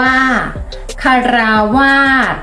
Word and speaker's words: ฆราวาส: คำ ที่ 7 ค่ะ ควาส อ่าน ว่า ฆราวาส คำ ที่ 8 ค่ะ งอมแงม อ่าน ว่า งอมแงม